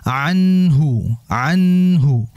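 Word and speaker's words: عنه: Kemudian anhu. Nun ketemu ha. Nun mati ketemu ha adalah idhar. Ya, idhar halqi. Ada yang mengatakan idhar saja, ada yang mengatakan idhar halqi. Kenapa idhar halqi? Karena huruf idhar itu semuanya makhrajnya keluarnya lewat tenggorokan. Makanya halqi namanya.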